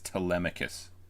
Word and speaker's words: Telemachus: Telemachus, just for the record, for anyone who doesn't know how to pronounce this, it's Telemachus.